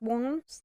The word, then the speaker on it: Worms: have a big party the city of worms that's warms it's spelled worms but it's that's where